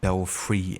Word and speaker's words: belfry: They pronounce it Belfry in Gotham Knights.